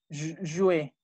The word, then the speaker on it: jouer: Ay, nada más, ¿cómo se pronuncia jugar? Jouer.